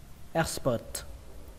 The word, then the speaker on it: expert: Expert, expert, expert.